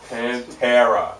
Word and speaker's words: Pantera: You still said it wrong. Pantera. Pantera.